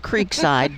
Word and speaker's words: Creekside: Now it's spelled Creekside, but if you live there, it's Creekside.